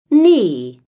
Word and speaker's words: knee: Activity one listen and say silent GH Knight straight silent k knee knife activity two listen and